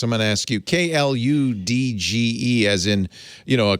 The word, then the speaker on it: kludge: pronounce that um i i'm not sure because i i think it's one of those words i read before i've heard anyone say it so i would have said kludge yeah but i think